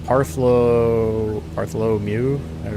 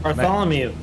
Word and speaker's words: Bartholomew: if you see where partho parom you say his name at 310 Bartholomew Bartholomew yeah there you go I see where he